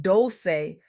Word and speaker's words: Dolce: I'm your host Dolci, pronounced dose say like sweet softness whispered in French.